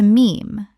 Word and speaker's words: meme: He took the Greek word mime, meaning something imitated, and shortened it to meme, to rhyme with gene.